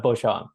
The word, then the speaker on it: Beauchamp: It's Beauchamp.